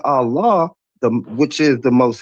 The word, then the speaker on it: Allah: Dude, do you say when you say Allah, do you say Ella? I say Allah. Right. So if it's spelled with the same letter as the other